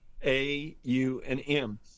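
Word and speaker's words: Aum: And and besides the word m when it's chanted is stretched out into three syllables. Yeah. A U and M.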